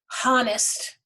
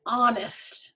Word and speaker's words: honest: a a european writer an honest man here we have the h which is consonant however this h is silent we don't hear it we don't say honest we say honest sounds like the a-h